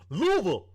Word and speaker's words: Louisville: best for last for Kentucky that's my city Louisville you pronounced it correctly too did they get mad